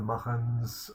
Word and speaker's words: Machen: For instance, with Bulwer Lytton's The Coming Race, or Arthur Machen's, or Machen, as sometimes they pronounce it, The Great God Pan.